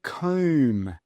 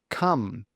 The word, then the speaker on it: come: Now, if we have a look at this first word, we've got O-M-E, but we don't say comb. No, it's a short U sound. Come.